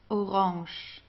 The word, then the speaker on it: orange: p okay GP GP orang orang okay we pronounce it the French Way Orange Ro brown brown